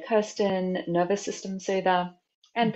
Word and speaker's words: Kersten: It's kind of like Laura, so Laurina, and Kirsten is Kersten.